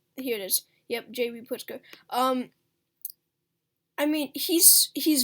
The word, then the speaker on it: Pritzker: illinois uh jb pritzker i believe how you pronounce his name uh i'm so yeah here it is yep jb putzka um i mean he's he's very unpopular he